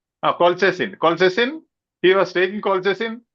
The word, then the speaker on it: colchicine: Could you pronounce it? Colchicine. Colchicine.